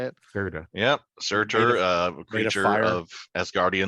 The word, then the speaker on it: Surtur: Surtur.